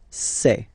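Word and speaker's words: ces: then for the plural form it will be say Okay so let's see that again s or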